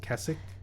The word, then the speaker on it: Keswick: or I think people have told me it's pronounced kesic but it's spelled k-e-s-w-i-c-k called Derwent water we